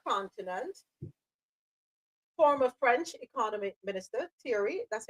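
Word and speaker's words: Thierry: Former French economy minister Tori, that's how you pronounce his name.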